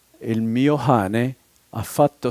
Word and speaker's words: cane: And the special pronunciation in the dialect of Florence is the hard C, the C, like Coca-Cola, is pronounced like an aspirated H, like ho-ha-hola. So the great park of Florence, le cascine, they say le hascine. Dog, cane, they say hane.